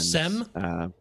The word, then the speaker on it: Sem: And Sem? Sem. It's not Sam. It's SEM.